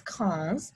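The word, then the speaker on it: quinze: 5 is sunk and 15 is cons so they're similar but not quite 16 is says just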